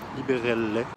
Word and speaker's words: Liberelle: J'ai beau toutes ces lumières rouges avec Gaspard Liberelle, ça se prononce à l'italienne, et une direction artistique de Marco Michelangelo.